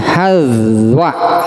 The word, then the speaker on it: hazwa: Huruf ha-nya di fathah, huruf za-nya di sukun. Sampai diterangkan demikian. Jangan sampai salah baca kemudian salah memaknainya. Jadi ini membacanya hazwa, gitunya hazwa.